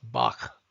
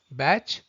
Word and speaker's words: Bach: His name is to be pronounced as Bach and not the German pronunciation of Bach. Bach rhymes with match or catch, and he used to